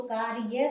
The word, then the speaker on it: कार्य: तो इसमें अ क्या है, जो इसकी स्वर है, जो इसका वो इसमें नहीं बोला जाता। जैसे कार्य, कार्य, कार्य, र, यहाँ अ का उच्चारण र के साथ नहीं होता।